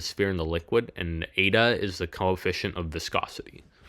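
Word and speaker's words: η: 6 pi and then that weird N symbol is pronounced ADA.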